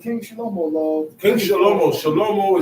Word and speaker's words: Shlomo: Shlomo is the Hebrew pronunciation for Solomon.